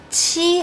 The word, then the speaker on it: qi: And you might notice that the only difference is that qi has an extra symbol h. This small h means that when you pronounce this sound, you need to exhale more strongly.